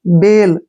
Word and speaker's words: bale: अब जिस नेक्स्ट है वर्ड BALE, जहां पर लास्ट में ई आए वहां पर ई का उच्चारण नहीं होगा। अब यहाँ पर ध्यान रखना है आपने, अगर लास्ट में जहां भी ई आया है उसका उच्चारण नहीं करना है। BALE, ठीक है ना। इसको हम बेल पढ़ेंगे।